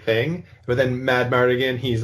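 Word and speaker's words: Madmartigan: That they were like, we have Willow, we have Mad Mardigan, right? Yes. That's how you pronounce his name?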